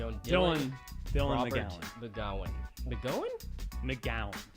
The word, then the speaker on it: McGowan: McGowan. Really? Like a gal.